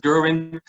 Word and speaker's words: Gerwin: Most of the German and English-speaking people also pronounce as Gerwin. I accept it. It's a lot easier than the pretty hard Dutch G, so never mind.